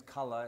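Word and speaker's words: Kalle: So don't think about the fact that the last letter of my first name is an E, because it's pronounced like an U.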